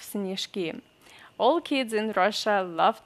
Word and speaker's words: снежки: Е unstressed we pronounce as E, снежок, and then снежки. Here the same, Е unstressed we pronounce as E, and then Ж we have to pronounce as Ш.